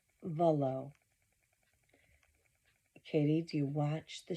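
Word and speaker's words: Vuolo: It's Volo. Volo. Katie, do you watch the show? You can hear it. If you read it, you may not know how to pronounce it. There's a U in there, but if you watch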